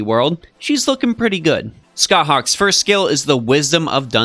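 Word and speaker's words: Scáthach: yes here she is scott hawk that is how her name is pronounced if you have trouble remembering it just maybe think of some gigantic bird of prey that likes to play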